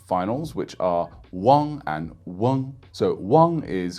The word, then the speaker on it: 忘: Really common word for this is wang, as in forget in Chinese.